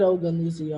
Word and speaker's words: Ogunlusi: I feel like I've always said Ogunlusi art though. You've been saying it right.